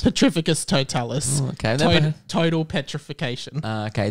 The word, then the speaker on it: Petrificus Totalis: wow petra oh i don't know the spell petrofectus totalis petrificus totalis okay total petrification uh okay the man yelled